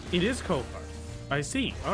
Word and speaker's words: Ko-Fi: Websites themselves, and that's how it's pronounced. It is Ko-Fi.